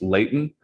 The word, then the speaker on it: Leighton: Leighton, and I'll tell you, I know it's probably properly pronounced Leighton, but when I used to get in trouble by my mom and my sisters, it was Leighton.